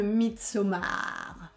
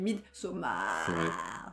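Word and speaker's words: Midsommar: 1,4 c le film meet soma je prononce comme ça il faut le prononcer comme ça parce que c'est ce qui les suivent mid somme a alors ce film une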